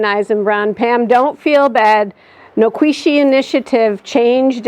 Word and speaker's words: Nikwasi: said, please, you guys, get rid of the anglicized version of that word and use the Cherokee pronunciation, which is Noquisi.